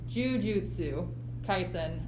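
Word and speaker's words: Jujutsu Kaisen: uh the juji oh i always say this wrong because it's got an extra syllable jujutsu tyson uh it struck me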